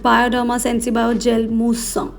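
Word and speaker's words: Bioderma Sensibio Gel Moussant: Or if you're feeling fancy, you can call it Bioderma SensiBio Gel Mousse. That's how you pronounce it in French.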